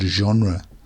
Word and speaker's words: genre: And finally, I want to mention the word genre. For example, music genres, different types of music. Genre is a very good word to know. It's very difficult to pronounce. So the G makes a J sound here.